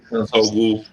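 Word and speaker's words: Ra's al Ghul: Foi lá estudar com o Hazard lá, não sei como é que pronuncia o nome dele. Razalgu.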